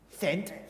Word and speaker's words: scent: And now, Let's add a random C after the S, change the whole meaning of the word. Here's how you say it. Ready? Sent. Can you even hear the difference? Sent. Sent. Matt, we're not here That's to... That's right. The C is completely silent, like a calm day at the beach.